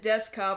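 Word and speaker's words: Duscae: Fantasy 15 um it's supposed to be what dusa Desa they pronounce it Desa but it's spelled d s c a e Desa episode something like that what the episode is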